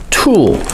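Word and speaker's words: tulle: about the crinkling noise it's called tool it's spelled t-u-l-l-e now it is a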